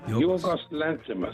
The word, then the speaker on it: Yorgos Lanthimos: Yorgos Lanthimos, yes.